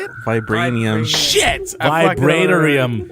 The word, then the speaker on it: Vibranium: Vibranium. It looks like you would say Vibranium, but it's Vibranium. There's no I.